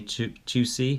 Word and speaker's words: Tucci: Okay, so Emma Thompson's in this, and Stanley Tucci, is pronounced that, and Fiona Whitehead.